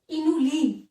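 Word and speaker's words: inulin: इनोलिन, ध्यान रखना इंसुलिन नहीं बोला मैंने, क्या बोला है? इनोलिन।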